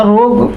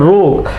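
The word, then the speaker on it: rogue: The word is called रोग। I have heard student sometimes से रोगू और समथिंग लाइक दैट। तो ध्यान रखिएगा, इसका प्रोनाउंसिएशन रोग है और इसका बेसिक मतलब है डिसऑनेस्ट, स्काउंड्रल।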